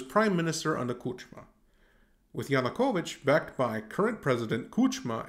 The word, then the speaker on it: Yanukovych: use this demonic device to remember the difference yanukovych rhymes with putin's yushenko poisoning as